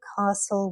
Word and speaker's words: castle: T, listen, castle, whistle.